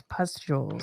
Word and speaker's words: pustules: broke out in black pustules. Am I saying that right? People help me. Smish, am I saying that right? No, you're saying it wrong. It's pustules.